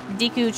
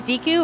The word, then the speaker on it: Deku: can see the great Deku trees Inca pink flowers is it Deku or Deku I guess technically Zelda's voice actress she says Deku but all my life I've always pronounced it Deku and then for the